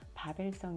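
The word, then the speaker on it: Wawel: 바벨과 의미가 있나 했는데 원래 영어로는 와 캐인데 이들의 발음으로는 바벨성 있니다 폴란드 크라쿠프의 대표적인 사적 유지로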